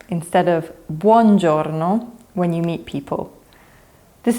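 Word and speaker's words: buongiorno: In Italian vowels are really important. Italians really enunciate them.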